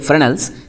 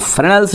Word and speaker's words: Fresnel: diffraction fresnels yes is we used to say fresnels this s is silent so funnels refraction other one is frown